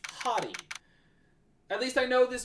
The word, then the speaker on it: Hotti: And it is unfortunately pronounced hottie. It's not hot. It's hottie.